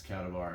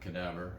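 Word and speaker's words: Kadavar: And yes, it's Katavar and not Kadaavver.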